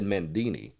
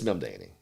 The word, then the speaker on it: Mamdani: other day endorsed him, and they mispronounced the name. And hell, I may be mispronouncing it now. They said Mandini. We just call him Zoran. This is Mamdani. What's that? We'll go by as first as Zoran. Well, I think it's Mamdani.